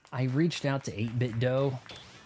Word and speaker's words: 8-Bit Dough: You know, I reached out to 8-Bit Dough. I pronounce it dough instead of do because it's not Nintendo, right?